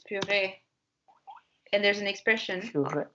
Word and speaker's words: purée: Yeah, and in English they say it in a fancy way, which is puree, but it's because in French it's purée.